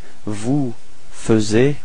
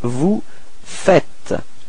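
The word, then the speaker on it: vous faites: Uh logically we could put this vu fuz but then no it's vu fet. Okay keep in mind that final s is not pronounced vu fet.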